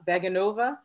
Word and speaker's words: Vaganova: Is it pronounced Vaganova? Vaganova.